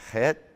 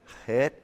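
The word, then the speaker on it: חית: When I say chet, to give it really a lot of wind, chet, and then put the k, chet, chet. So you hear the k, chet, but you got the chet.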